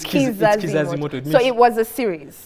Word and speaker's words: Kizazi Moto: It's funny because Ugandans pronounce it as Chizazi Moto because we say Chi here because Ki is usually Chi, but it's Kizazi Moto.